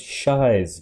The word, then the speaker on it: Shiey: going to be looking at another one of Shai's videos our favorite Urban Explorer and adventurer thanks for pointing out in the comments it's pronounced Shai not sh specifically a stealth mission to an